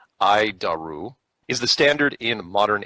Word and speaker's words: ADIRU: data initial reference unit we pronounce it I daru is the standard in